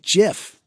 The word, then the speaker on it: GIF: correcting them but it's actually supposed to be pronounced jiff but that that's that's a